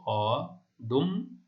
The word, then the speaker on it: অদম্য: আচ্ছা, দেখো মধ্য অ ড, তাহলে তার পরের ধ্বনিতে জ ফলা রয়েছে, তাহলে এই দ এর সাথে যে অ রয়েছে তার উচ্চারণ ও এর মতো হবে। ঠিক এরকম দেখো, অদম্য, অদম্য।